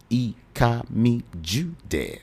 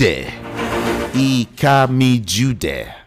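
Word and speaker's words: Ikamijudeh: I am EA Jud. I K A M I J U D E H. That's how to spell it.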